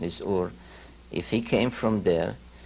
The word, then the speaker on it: Ur: came from Sumer, came from a city called Ur, or Er as many here pronounce it, but the true pronunciation is Ur.